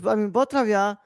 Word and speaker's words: Beau Travail: Beau Travail, French, it's pronounced, Beau Travail, which is French for